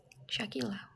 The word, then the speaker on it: Shakila: So, actually my name is Shakila but you e pronounce tuh Sakila. Jadi u-nya gak dibaca. He apa? He's just there for decoration.